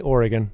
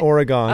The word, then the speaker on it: Oregon: how you say it definitely Oregon Oregon not Oregon okay you never know